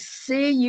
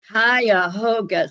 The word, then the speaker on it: Cuyahoga: that john bryan and one that i couldn't pronounce a valley national park it was c-u-y-a-h-o-g-a cuyahoga hiahoga so that's something that's up in the cleveland